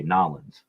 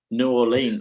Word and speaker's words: New Orleans: That's how they say it. That according to them, that's the proper way. Nolens. Rob, say it, please. Nolens. New Orleans, I would say, but Yeah, me too.